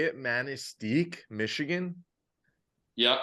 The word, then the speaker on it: Manistique: Manistique, Michigan? Yeah, Manistique.